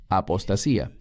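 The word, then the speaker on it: ἀποστασία: La palabra aquí es apostasía, en griego, que se pronuncia igual, apostasía.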